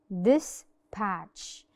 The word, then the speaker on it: dispatch: Dispatch. This means that the T is silent عشان it was followed by CH.